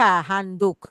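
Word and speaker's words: handdoek: handuk handuk betul handuk Tapi tulis ya beda ya di Indonesia handuk pakai u Tapi di sini Han do eh o e k handuk ya apalagi misalnya lifstick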